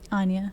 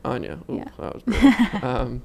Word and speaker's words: Anja: fault watercolorists i know anja pronounce it anya anya but like you know